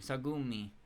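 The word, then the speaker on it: Sagume: Sagumi. The only part about Sagum I actually like is when I get to say her name like she's a gummy bear.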